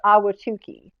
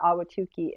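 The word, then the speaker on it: Ahwatukee: towards the south, you have an area called Awhatukee. It's still a Phoenix mailing address, but this is Awhatukee, and it's spelled Awhatukee.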